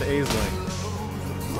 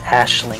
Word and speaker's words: Aisling: Whoop, I got Chimeria and Aisling. Yep, Chimeria, and actually it's pronounced Ashling for some reason. That's dumb. Like, June will occasionally say it when she shows up. You're done, Ashling.